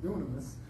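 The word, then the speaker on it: δύναμις: And it's dunamis.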